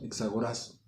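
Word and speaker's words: ἐξαγοράζω: Al último con acento en la O, exagorazo.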